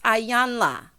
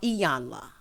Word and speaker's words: Iyanla: Girl, it's Ayanla or Iyanla, however you'd like to pronounce it. Child, not Ayana.